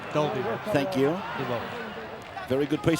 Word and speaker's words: Dalby: Just looking at the fat man for clarification of the pronunciation. Dalby.